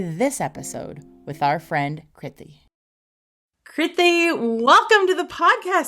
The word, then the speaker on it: Kriti: In terms of me, my name's Kriti. It rhymes with pithy.